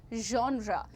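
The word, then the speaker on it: genre: बट इट is completely natural but इसको जॉन्रा जेरे नहीं बोलेंगे। You will call it जॉन्रा ज में श मिक्स करना है आपको कहना है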